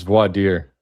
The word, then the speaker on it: voir dire: I don't even know how to pronounce that. Voir dire. Clown world. It's voir dire.